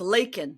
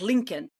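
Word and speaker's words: Laken: Her name is Lakin, not Lincoln.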